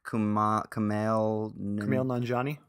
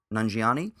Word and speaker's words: Kumail Nanjiani: and directed and starred in the big sick Kumail Nanjiani Nanjiani yeah Kumail Nanjiani that he said something like